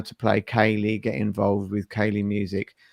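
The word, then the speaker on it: ceilidh: of how to play kaylee get involved with kaylee music um if you are reading the website the word that is spelt c-e-i-l-i-d-h is pronounced kaylee i would never have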